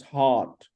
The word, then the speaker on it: heart: heart of by heart no not heart it's heart heart look at it wait look at the pronunciation heart is long and is robust is full mouth heart it's not hat or heart it's heart heart heart heart now open your mouth heart heart heart full mouth yeah so have you